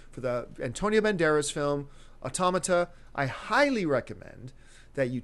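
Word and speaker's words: Autómata: I'm pronouncing that right um how is it pronounced automata automata okay um so look it up because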